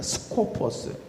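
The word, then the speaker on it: σκοπός: 근데 이 헬라어의 원래 그 발음은 뭐냐면 스코포스입니다. 스코포스.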